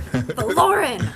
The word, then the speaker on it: Vaelorin: The Oh, he just told me to Valerin? I'm Valore. Valoren.